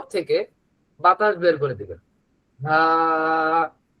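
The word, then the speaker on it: ه: হা। একেবারে মুখ ভরে বাতাস বের করবেন। হা। হা। এই মুখের ভেতর থেকে যে বাতাসটা বের হবে এটা যেন কোথাও বাধাপ্রাপ্ত না হয়, তাহলে হায়ের উচ্চারণ হয়ে যাবে।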